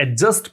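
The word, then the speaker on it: adjust: ये देखो, ए और जे के बीच में जब जब डी मिलता है तो डी को आप हटा दीजिए और उसको उच्चारण वैसे करो कि डी नहीं है, एडजस्ट, ठीक है।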